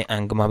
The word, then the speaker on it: eng: तो कुछ लोग इसे एंग कहते हैं, ENG, और कुछ लोग इसे एंगमा भी प्रोनाउंस करते हैं, ठीक है।